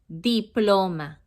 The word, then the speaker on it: diploma: A diploma in Spanish, you spell it the same way as in English, but you pronounce it differently. Diploma in Spanish, you pronounce diploma. Diploma. It's very similar, but you don't say diploma, you say diploma.